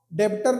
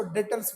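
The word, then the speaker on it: debtors: अब बहुत लोग इसको डेबिटर नहीं बोलेंगे हम लोग ना। इसको डेटर्स बोलते हैं। डी ई बी टी ओ आर मतलब यहां पर एक तरीके से बी जो है साइलेंट हो गया। डेटर्स हो गया।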